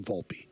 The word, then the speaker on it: Volpe: check with them and Anthony's dad says the name is pronounced Volpe so I'm not going to pronounce it Volpe because that's the right way quote unquote to do it in Italian his name is Volpe it's not so Peter